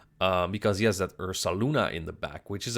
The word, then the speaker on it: Ursaluna: that and Ursa Luna I know some Dutchman uh pronounced at ursulana it's ursuluna and um it doesn't